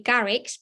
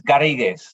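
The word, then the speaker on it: Garrigues: bear with me here this is the French word uh I'm not sure how we pronounce it in English it could be Garrix please correct me UK LLP it's actually Spanish and it's garriguez if you weren't too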